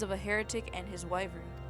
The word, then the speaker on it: wyvern: a heretic and his wyvern. I don't know how to pronounce that word. Is it wyvern? It is. Wyvern.